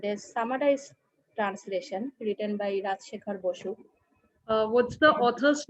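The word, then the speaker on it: Rajshekhar Basu: That was a Bengali translation and a summarized translation written by Rajshekhar Bosu. What's the author's name again? Rajshekhar Bosu. The Bengali name, actually, I'm pronouncing in Bengali.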